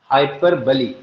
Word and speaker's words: hyperbole: हाइपर बली। बली लिखा जाएगा बोल, BOLE, लेकिन पढ़ा क्या जाएगा? हाइपर बली।